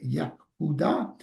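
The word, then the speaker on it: Yehuda: Judas en église prononcé Yahuda a-t-il donné naissance au mot juif.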